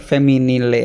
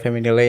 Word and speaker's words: Femminile: Tapi baca lu bacanya emang bener feminile apa gimana sih? Feminil kalau nggak- Feminil? Iya feminil. Oh oke. Kayaknya nggak dibaca ya. E-nya nggak dibaca yang belakang.